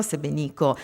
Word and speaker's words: Sebenico: un esperto della storia di Sebenico, giusta l'accento, Sebenico nel Medioevo, e ci parlerà del sistema di diritto e giustizia infatti a Sebenico.